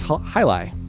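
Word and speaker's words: jai alai: from everybody good quick answers the answer is hi lie hi and in researching this I've always wanted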